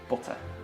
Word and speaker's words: butter: And then the American just says butter. Yeah, without any teas. Without any teas and with an at the end.